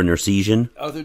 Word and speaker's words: Nersesian: But and that's Arthur Nersesian? Yeah, well, it's pronounced a little differently, but I'll take that. That's what my phone says. Oh, I got to. And it's Nersesian.